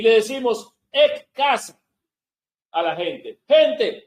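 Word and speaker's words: ἐκ: El número que corresponde a entre los 7 es G1537, que es el griego 1537, que en el griego se pronuncia ek.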